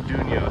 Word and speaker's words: Atunyote: I've ever seen because it's actually called the dunyo so I learned how to say it we're